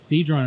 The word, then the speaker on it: Dedrone: Dedrone. And I pronounced it correctly.